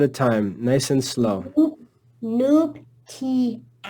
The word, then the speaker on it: nuptias: Nuptias. Nuptias. Anytime you see the letter A, it's pronounced ah. Always ah, okay? Nuptias.